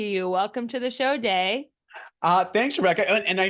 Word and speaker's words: Dai: welcome to the show day uh thanks Rebecca and I know sometimes it's pronounced day but sometimes it's also pronounced die so you we'll go